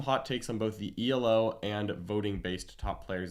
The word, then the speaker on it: Elo: someone in the chat tell us if it's elo or e-l-o i definitely know it's pronounced e-lo okay um because i've